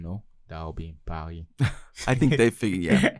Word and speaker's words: Paris: But for the English speakers, it's Paris. But in Paris. French, you don't pronounce S at the end of a word.